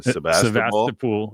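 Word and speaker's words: Sebastopol: Sebastapool. Yeah. Just like the Russian city.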